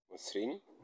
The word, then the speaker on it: মসৃণ: 4 নম্বর নিয়ম শব্দের প্রথমে অধ্বনি থাকলে তারপরে ঋকার ব্যবহার হলে অয়ের উচ্চারণ ওকারের মতো হবে, অয়ের উচ্চারণ ওকারের মতো হবে। যেমন যকৃত যকৃত, মসৃণ মসৃণ।